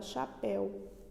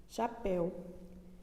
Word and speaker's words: chapéu: E percebemos que a palavra que tem o ditongo aberto é a palavra chapéu, tá? Ó, chapéu. E a palavra que o ditongo está fechado é museu, tá certo? Então, em chapéu, eu abro a boca para falar chapéu.